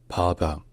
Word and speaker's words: Papa: Papa. It starts with a long a sound like the on father. Then comes a soft ba. So it's just papa.